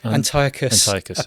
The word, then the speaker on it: Antiochus Epiphanes: Antiochus Epiphanes.